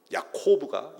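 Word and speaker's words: יעקב: 야곱이 약복강에서 씨름을 했다라는 말 히브리어로 발음하면 야코브가 야곱은 야코브입니다.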